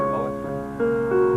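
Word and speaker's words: Moët: Moet is a Dutch name, and with proper names, the rules do not apply, so it is properly pronounced Moet.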